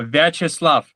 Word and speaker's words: Viacheslav: Maybe um the audience would love to know how you uh pronounce your first name. Can you please tell us? Uh sure. It's uh Veslav. Veslav.